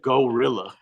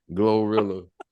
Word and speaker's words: GloRilla: Goa glorilla glor glorilla he said gorilla glorilla yeah that girl hey